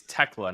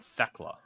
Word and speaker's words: Thekla: But by the way, it's Tekla, not Thekla.